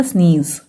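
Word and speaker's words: sneeze: फिर जेड का साउंड होता है ज, ठीक है, और लास्ट में ई होने से साइलेंट होता है, इसको हम उच्चारण नहीं करते हैं, तो ये क्या हो गया स्नीज।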